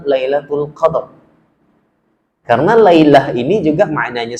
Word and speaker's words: Lailatul Qadr: kemuliaan yang disebut dengan al-qadar jadi cara membacanya Bapak Ibu yang saya muliakan kalau disebut malam alqadar kurang tepat dalam kaidah bahasa Kalau kita sebut dengan malam Lailatul Qadr karena lailah ini juga